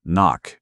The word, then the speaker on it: NOC: They call it NOC, non-official cover, pronounced knock.